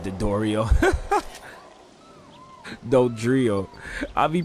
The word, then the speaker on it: Dodrio: Whoa, the Doria. I said Dodrio. Dodrio. I'll be pronouncing their names wrong.